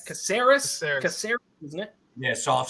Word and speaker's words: Caceres: Caceres, isn't it? Yeah, soft C. Caceres.